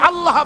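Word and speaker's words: الله: আল্লাহ পাকের উচ্চারণটা হচ্ছে আল্লাহ পাকের নাম হচ্ছে আল্লাহ মুখটা একটু গোল হয়ে যাবে বলেন আল্লাহ আল্লাহ পৃথিবীতে বিভিন্ন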